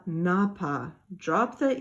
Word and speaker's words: n'a: It sounds really awful to say Cléa ne a pas. It's just choppy and it doesn't flow well, and they want it to flow. So they say Cléa n'a pas.